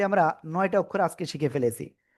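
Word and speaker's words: ف: সবাই এই যে দেখেন নিচের ঠোটের পেট উপরে দুই দাতের আগার সাথে লাগাবেন লাগিয়ে মোটা আওয়াজে না কিন্তু সিম্পল হালকা মুখ দিয়ে বাতাস বের করে উচ্চারণ করতে হবে আমি আবারও বলছি খেয়াল করবেন ফা ফা ফা ফা এই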